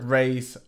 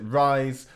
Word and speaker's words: Raiz: thing before we start I call this trick race other people pronounce it rise some people who announced it hiiis I think that's the proper Portuguese pronunciation I'm probably murdering it with my accent but yeah doesn't really